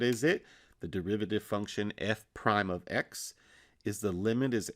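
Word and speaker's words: f′(x): so that function is the derivative function we pronounce that f prime of x which i have written below as well there's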